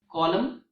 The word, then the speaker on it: column: example mnemonic device and there are a few words that end with MN but in these words the letter n is silent for example autumn column damn him so these